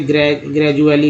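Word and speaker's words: gradually: उसके डी को ड तो ज बोलते हैं, जैसे ग्रेजुअली में देखिए, ग्रेजुअली, जिसमें डी को ज बोलते हैं।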